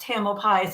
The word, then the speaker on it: Tamalpais: And I just want to say to Dee, you pronounced Tamalpais Aquatic Masters perfectly.